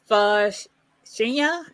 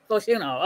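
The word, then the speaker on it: Fashanu: You want to pronounce that one? Oh, my God. Omuwata Fashina? Fashuno.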